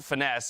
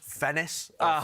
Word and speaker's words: Finesse: a matter of fact, it's always been pronounced Finesse if you're to talk to the man himself, just making it official this time around. I was told it was pronounced Fennis, Venus.